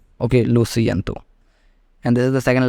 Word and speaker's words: lo siento: Okay, lo siento, and for pronouncing it correctly you can also split into 4 parts. Okay, LO at once, SI at once, EN at once, and TO at once, so it becomes lo siento.